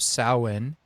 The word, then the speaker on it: Samhain: So I know that there is some reference to the pagan holiday of sin which is spelled Sam Hayne but they don't know